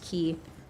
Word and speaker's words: quay: Oh, sorry, key. You guys were telling me it's pronounced key.